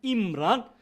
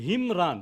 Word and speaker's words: Imran: And we have shown there that Imran rather, the right way to pronounce it, Imran. My accounting teachers used to say Himran.